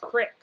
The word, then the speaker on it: creek: in the fishing line, but I'm sorry, it's pronounced crick.